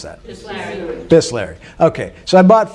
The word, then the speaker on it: Bisleri: How do you pronounce that? Bisleri.